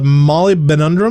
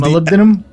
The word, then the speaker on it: molybdenum: good for says apparently Molly bin tundra man who pronounced that is molybdenum melindam is the element